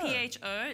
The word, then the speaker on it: pho: P-H-O, said pho. It, kind of like an F-E-R, F-U-R sort okay.